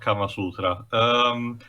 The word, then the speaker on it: Kama Sutra: Also, technically speaking, it's pronounced Kama Sutra.